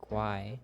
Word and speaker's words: Uruguay: The Guay in Uruguay is pronounced Guay.